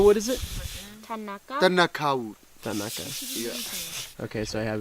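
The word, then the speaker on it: thanaka: Tanaka. Yeah. Okay, so I have been pronouncing it right.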